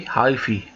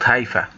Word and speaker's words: hyphae: know that it is called alternate hyphae okay hyphy and not haifa so it's pronounced as hyphy and not haifa in biology